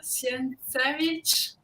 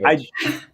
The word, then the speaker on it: Sienkiewicz: I'm sorry because I know now I spell very bad the name, but Bill Sienkiewicz. Oh, Wow, it's Bill. I can't even Oh, pronounce Bill that name. Sienkiewicz.